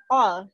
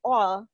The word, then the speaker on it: all: First of all. Jadi ini bukan al ya, bukan Al Ghazali, Al Eldul atau siapapun itu, ini all bacanya ya. Pakai huruf O ya.